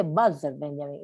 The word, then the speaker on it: Walter Benjamin: Y no sé qué me dijo, no se dice Walter Benjamin, es alemán, se dice Walter Benjamin.